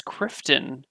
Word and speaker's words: Crifton: woodfield i like woodfield it's not riften dude it's crifton it's very very different from rifton it's super different totally different did you see